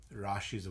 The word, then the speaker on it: rashi: So, first of all, in Sanskrit, the word sign, the word is rashi, r a s h i. And rashi translates to rashi. Rashi is how it's pronounced.